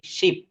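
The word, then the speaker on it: ship: বাট এইটা যদি আমি বলি নিচের সেকেন্ড অপশনে এস এইচ আই পি, অর্থাৎ এটাকে দ্রুত বলতে হবে শিপ, শিপ, শিপ।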